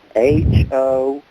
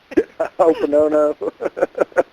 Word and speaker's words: Ho'oponopono: I'll spell it, maybe Wham can say it. H-O''Oponopono. That sounds pretty good, the way you said it. Ho'oponopono.